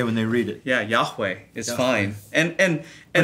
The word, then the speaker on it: Yahweh: Yeah, Yahweh is fine.